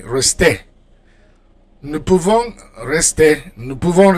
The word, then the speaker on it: rester: All right, so in for verbs ending in er, like rester, you don't pronounce the R, you just pronounce the E, rester.